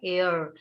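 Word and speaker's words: heir: तो वारिस को कहा जाता है एयर। सो एच ई आई आर, एयर। Pronunciation होगा एयर, साउंड आ रहा है दैट्स व्हाई यहाँ पर एन एयर लिखा हुआ है।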